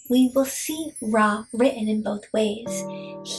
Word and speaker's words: Ra: also see it as R a which is closest to the way that we would pronounce it in English.